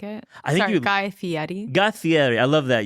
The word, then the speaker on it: Guy Fieri: Guy Fieri. Guy Fieri. I love that you actually did the proper pronunciation.